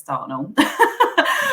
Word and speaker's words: Dartnell: So I would pronounce it in my southern accent, probably a bit too common southern accent, Dartnell.